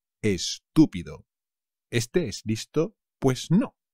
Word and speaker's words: estúpido: great estupendo estúpido estúpido cuidado con el acento chaval es estúpido este es visto pues